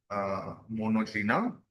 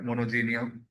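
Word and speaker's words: Monogenea: Class Turbellaria, और then मोनोजीना, और इसे जीनिया भी पढ़ सकते हैं, मोनोजीनिया, और ट्रेमेटोडा, और कैस्टोडिया या सेस्टोडिया, दोनों प्रोनाउंसिएशन ठीक है।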